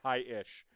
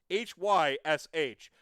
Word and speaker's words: Hysh: Because I've heard Coach say hi-ish. It's Hysh. Where's the extra syllable come from?